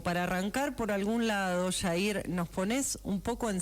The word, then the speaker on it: Yair: Jair, ¿cómo estás? Jorge Pamela, te saludamos. Hola, Jorge Pamela. Yair es como se pronunció mi nombre. Es medio complejo, pero pero se pronuncia así.